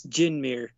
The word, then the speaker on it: Djinmyr: It's Jinmir. Jin like the drink.